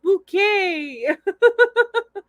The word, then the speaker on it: Bucket: lady of the house speaking bucket no no it's pronounced bouquet i don't even